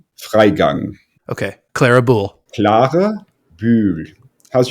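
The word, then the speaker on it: Freigang: up quite a bit I go with Laura fry gang I know that's not right but can you set us straight here you pronounce it laa Fang okay Clara bu CLA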